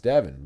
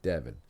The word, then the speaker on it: Davan: So and early on in the show, I was calling him Davan forever until he corrected me and said it was Davan because it's like Gavin but Davan.